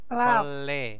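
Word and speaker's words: 걸레: bit bit bicaruu sabu Iya kolre Kole bacanya Kole Kole nah oh double R ya jadi real real dibaca l ya terus yojiong Yuji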